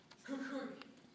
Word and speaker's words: Kukri: The name Kukri is actually a Western pronunciation. In Nepal, it's pronounced Kukri, or simply Gurkha blade.